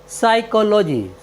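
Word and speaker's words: psychology: वाई सी एच ओ एल ओ जी वाई साइकोलॉजी साइकोलॉजी मीस होता है मनोविज्ञान और हमारा नेक्स्ट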